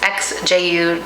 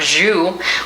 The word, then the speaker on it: XJU: for forever until I saw another YouTube video where someone correctly I believe said that the name of the company is XJU Designs, not Zu, which is what I was trying how I was trying to pronounce it.